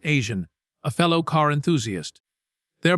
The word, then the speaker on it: AZN: He was often seen racing alongside his best friend AZN, pronounced Asian, a fellow car enthusiast.